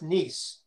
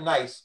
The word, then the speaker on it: niece: The other thing is the word niece, it's pronounced niece. Niece? Niece. I know it sounds like nice, but it's niece. Sorry. Niece. That's okay. No, it looks like, I would think it would be nice too, but it's pronounced, it's irregular like so many.